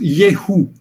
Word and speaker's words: Yehu: Geralmente a gente pronuncia isso Yehu, porque o W pode ser lido como V e como U.